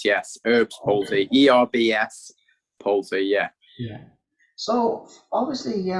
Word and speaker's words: Erb's palsy: Starting at the very beginning, now, am I saying this right when I'm saying Erb's palsy? Am I pronouncing that the right way? Yes, that's correct. Yes, Erb's palsy, ERBS palsy.